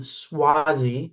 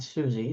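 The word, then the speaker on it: Suozzi: Suazi, not Suzy, Swisy.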